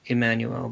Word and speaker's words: Jmmanuel: so it was um I think it was a j but it wasn't J it wasn't that J sound it was a e sound it was to pronounce the I the the letter I so Emanuel but I I don't